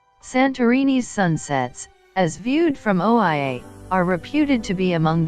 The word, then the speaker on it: Oia: is the quintessentially santorininian town of oia also spelled ia and pronounced eeya with its whitewashed walls sunk